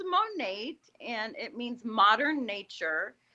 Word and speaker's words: Monat: the name of the stuff again so it's monat and it means modern nature so how do you spell it mod no m-o-n-a-t and uh i have